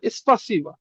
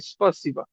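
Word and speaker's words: спасибо: হ্যাঁ এস্পাসিবা। স্পাসি এটা আ এটার উচ্চারণ হবে আর মতন উচ্চারণ হবে। স্পাসি। এসপাসিবা। এই যে বাংলা যেটা আছে হুবহু পারফেক্ট আছে স্পারসিবা।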